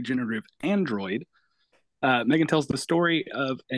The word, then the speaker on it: M3GAN: Okay, it's just pronounced Megan.